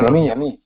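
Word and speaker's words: यमी: Yami. So we have to read the Sanskrit, not English. To get the correct pronunciation of the names. Yami. Same as Yamuna.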